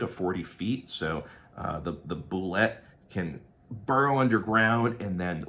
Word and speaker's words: Bulette: And I believe Bulette is how it's pronounced. I don't think it's some kind of French-sounding boulet or just bullet, right? Because that's a different spelling.